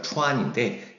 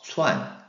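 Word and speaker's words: 串: 그래서 읽을 때는 원래 치 발음에서 추안인데 여러분 우리가 그냥 스 발음하면서 추안, 추안, 추안 이런 식으로 읽어도 되겠습니다.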